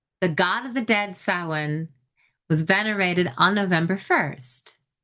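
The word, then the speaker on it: Samhain: That's sin. And it's spelled s a m h a i n, but it's pronounced sin.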